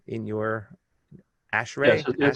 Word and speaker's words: ASHRAE: He currently also serves, I should mention, as the chair of the A-S-H-R-A-E epidemic task force, do you pronounce A-S-H-R-A-E in your ASHRAE .